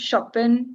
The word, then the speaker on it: Chopin: the lift, It's actually pronounced Chopin, Chopin, okay, shopping. Chopin.